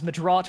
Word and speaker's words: Medraut: And the original pronunciation is Madrot, which is what I'm named after.